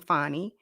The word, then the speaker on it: Fani: now I know that she pronounces her name fonnie but we gonna say Fanny because that's how they spelled it should have put a